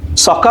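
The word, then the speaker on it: socca: সকা মানে হচ্ছে এস এর বানানটা হচ্ছে এস ও সি এ সকা।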